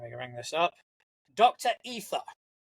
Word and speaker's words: E7HER: Ether. It is spelled E7HER, but makes a point on the profile to say it is pronounced Ether.